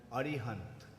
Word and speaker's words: Arihant: Actually, they pronounce his name as Arihant.